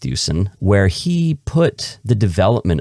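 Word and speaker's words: Thuesen: book called predestination by peter thusen i think it's pronounced thuson where he put the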